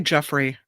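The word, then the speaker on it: Giuffre: because obviously um now how do you say her last name? Virginia. I say Jeffrey. Is it Jeffrey? Okay. Let's just let's use your pronunciation. Jeffrey.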